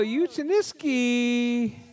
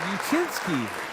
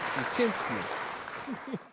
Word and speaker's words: Uchinski: And in that number 7 spot, it's gonna be Kyle Uchiniski. Did I say that right? No? Uchinski. Uchinski. I added one extra syllable.